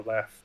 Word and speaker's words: Leif: same Leif, L-E-I-F, and I always pronounced it Leaf, but like, who knows? Yeah, I mean, I think that's more of a English, Anglic pronunciation, because, like, if you think of Leif Erikson, right, that's how we say it. But I think the actual correct pronunciation is more Leif or Left.